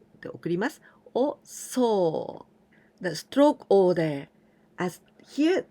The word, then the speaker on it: 送: This kanji means to send, and we pronounce 送, で送ります, or so.